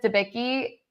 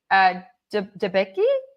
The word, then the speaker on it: Debicki: Elizabeth Debicki, Debicki, right? That's how you pronounce her last name.